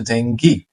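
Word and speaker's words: dengue: আ এরপরে ট্যাক আটক আমরা এটাকে বলি ডেঙ্গু তাই না বাংলাদেশের সবাই মোটামুটি এটাকে চিনি বলি যে ডেঙ্গু ডেঙ্গু বাট ইংরেজিতে এটাকে বলছে জেঙ্গি জেঙ্গি এবং এটাকে ডিবাট বা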